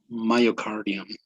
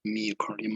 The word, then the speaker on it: myocardium: the sea right it's muscle right but it's pronounced muscle it's vena cava cava cava okay and papillary muscles papillary muscles what else myocardium not meocardium myocardium cardio okay so could you explain a